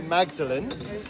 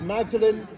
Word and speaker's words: Magdalene: He named it after Mary Magdalene, but he changed the pronunciation to sound like his own name. So instead of Magdalene, we call it Magdalene, like Thomas Audley.